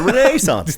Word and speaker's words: Renaissance: The Renaissance, the only proper way to pronounce the Renaissance.